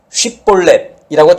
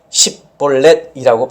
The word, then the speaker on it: 쉽볼렛: 자, 길르앗 사람들은 쉽볼렛이라고 정확하게 발음을 했지만 에브라임 사람들은 이것을 쉽볼렛이라고 발음하지 못하고 십볼렛이라고 발음을 한 거죠.